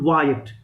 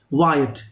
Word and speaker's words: Wyatt: three names one is uh we we actually pronounce it wyatt w y a double t how we pronounce it wyatt then earl of surrey clear these two people